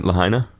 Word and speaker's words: Lahaina: Lahaina?